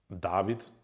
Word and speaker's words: David: David, that's by the way how my name is pronounced if someone doesn't know.